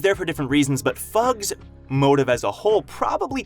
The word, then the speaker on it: FUG: We know for sure that they say it like FUG, sort of like how you might say NASA for NASA, but it doesn't mean that FUG can't stand for something.